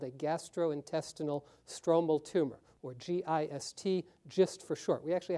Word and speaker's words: GIST: days of this saying should we call it gist or gist okay let's do a soft G oncology is hard enough we'll do a gist so this was our